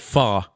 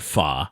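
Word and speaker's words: pho: do have to confess this morning I tried far without you and and why is it called it's spelled p-h-o but it's pronounced so I'm so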